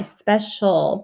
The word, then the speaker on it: special: um a tricky word because it has kind of like a soft c sound in the middle it's followed by the eye special but it makes more of a sh sound so it's like one